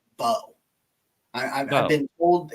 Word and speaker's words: Mbow: You look at, and I've been told the Purdue right tackle's name, it's spelled MBOW. I've been told it's just Bo.